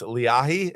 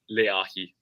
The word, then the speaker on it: Leahi: apologize for pronouncing it Lehi it's leahi is that the correct pronunciation you guys can go with whatever it's it's a Hawaiian word here it's leahi all right leahi I